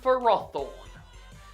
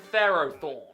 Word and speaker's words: Ferrothorn: That's right, I call it Ferroseed and Ferrothorn. Not Pharaohseed and Pharaohthorn.